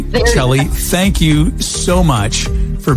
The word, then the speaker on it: Chellie: Chellie, thank you so much.